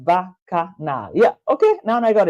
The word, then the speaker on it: Bacchanal: So Vico, Kevin said Vico, Bacchanal is pronounced Bacchanal.